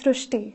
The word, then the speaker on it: Srushti: pronounced as Rue so that is why the pronunciation goes srushti so hereby the spelling sir so you are